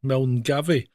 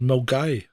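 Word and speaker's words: Milngavie: Milgave, but it's pronounced Mgai.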